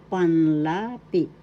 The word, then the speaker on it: panlapi: Today we are going to visit revisit panlapi. Panlapi. First syllable pan. Second syllable la. Third syllable P panlapi. Panlapi. Second syllable is the accent.